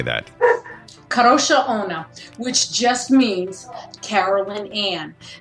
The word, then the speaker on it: Kadrolsha Ona: KADROLSHA ONA, which just means Carolyn Ann.